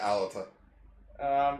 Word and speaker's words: Alata: Yeah, Alata.